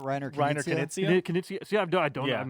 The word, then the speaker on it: Knizia: Rainer Nizia. Basically, you have a It's not Reiner Reiner Knizia? Knizia? Knizia.